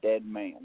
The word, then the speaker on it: Dedman: And the proper way to pronounce my last name, don't worry, everybody butchers it, is Dedman, like dead man walking.